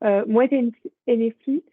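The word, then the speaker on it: Moët Hennessy: Et on a une autre entreprise, donc là, alors, ça je le prononce bien, Moet Hennessy, donc c'est une entreprise de vin et de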